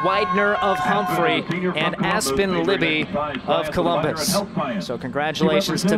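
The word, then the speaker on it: Luebbe: how to pronounce Aspen's last name sveld l-u-e-b-b-e pronounced Libby because I covered her at State golfer junior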